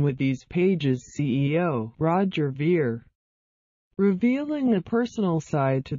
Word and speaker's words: Ver: at his document the guide his interview of Bitcoin dot-com CEO Roger Vere set for airing Friday May 11th mr. veer rhymes with beer has been interviewed a